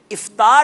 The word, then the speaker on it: افطار: افطار ہے یا افطار ہے؟ افطار ہے, الف کے نیچے کسرہ یعنی زیر ہے. الف کے نیچے زیر ہے.